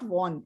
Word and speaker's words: won: अच्छा, आपका जो मेन प्रॉब्लम थी ना आपकी प्रोनाउंसिएशन वन की, WON इज नॉट वॉन, इट इज वन।